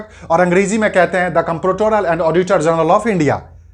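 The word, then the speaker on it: comptroller: Generally हम बोलचाल में इसको द कंट्रोलर कहते हैं, बोलचाल में यूजुअली द कंट्रोलर कहते हैं। बट यहां कंट्रोलर नहीं है, कंप्ट्रोलर है। यहां पे कंप्ट्रोलर है, कंप्ट्रोलर COM है, CON नहीं है।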